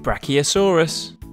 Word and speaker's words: Brachiosaurus: Brachiosaurus.